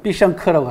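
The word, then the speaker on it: 必胜客: 중국 발음으로는 피샹크라고 합니다. 예. 그러니까 피자헛하고 비슷하죠 발음이 그죠?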